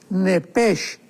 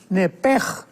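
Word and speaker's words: נֶפֶשׁ: porque es la palabra nepesh con sh al final. Neph. En el hebreo se pronuncia eh la sh con j. Entonces, la pronunciación hebrea es nepej.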